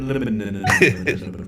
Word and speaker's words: Linneman: That's actually how you pronounce his name. John Linneman.